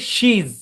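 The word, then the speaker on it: she's: তো এটার কন্ট্রাকশন হচ্ছে শি অ্যাপোস্ট্রফি এজ, উচ্চারণ হচ্ছে শিজ, শিজ, এরকম।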